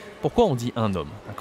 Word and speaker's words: un homme: Donc on dit un homme. D'accord ? On doit prononcer la liaison.